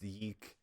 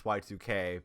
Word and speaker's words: YIIK: has to clarify that it's not pronounced the Eek and that's Y2K because they decided to do Roman numerals for the two in the title making it unclear saying